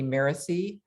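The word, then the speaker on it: Mirasee: i-n-y is the way his last name is spelled with the company miracy m-i-r-a-s-e-e and um what danny teaches is that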